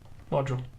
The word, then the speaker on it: module: DULE module. Or is he going to spell it with a J?